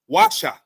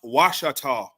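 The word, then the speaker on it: Ouachita: Their name can also be pronounced Washa by English speakers. The spelling Oshitush and pronounced Washata came as a result of French settlers.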